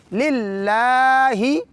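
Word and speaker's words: لله: جیسے پہلے بتائے کہ اللہ کے لام کو تھوڑا لمبا کریں گے، اوپر الف مدی ہے۔ للہ رب جہاں بھی دیکھیں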